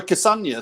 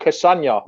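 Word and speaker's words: Castagne: kassanya so yeah because castane sounds a bit like lasagna how do you say his name is it some people are saying because some people are saying castano some people how is it how do we say his name lads do we know well let's try it jamie how do you say it it's like lasagna cassano i would have said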